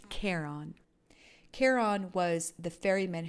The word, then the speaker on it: Charon: pluto's moons in mythology the name was not pronounced sharon it was pronounced charon charon was the fairy